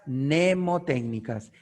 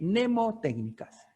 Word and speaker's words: mnemotécnicas: qué es esto reglas nemotécnicas la m no es un error se escribe así pero se pronuncia ne mnemotécnicas bueno que es esto